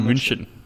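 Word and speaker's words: München: the movie in Bruges apparently we pronounced Bayern Munich incorrectly this is Bayern Munchen yeah but do we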